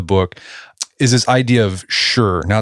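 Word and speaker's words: shi: And an important part of this earth component you dig in deep in the book is this idea of sure. Now it's pron it's spelled sh h ih I believe it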